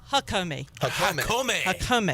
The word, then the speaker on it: Jacome: Do you know how to say it, Shirley? Yes, it's Hakome. Hakome.